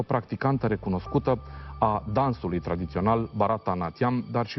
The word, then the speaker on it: Bharatanatyam: Which is the correct pronunciation? Bharatanatyam. Bharatanatyam, okay.